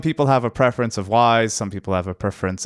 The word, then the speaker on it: Wwise: so here we are in wise spelt with 2 w SW W is e again it's similar to